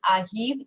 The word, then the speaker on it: arrivent: Okay, so Sophie et Alice, arrive, ENT को pronounce नहीं करना, ठीक है.